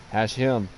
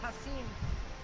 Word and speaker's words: Hashim: No, he said you said it right, I said it wrong. Hashim. I wonder if it's got anything to do with the... It's gotta be that German that's in me. Yeah, see, I thought it was pronounced Hasim.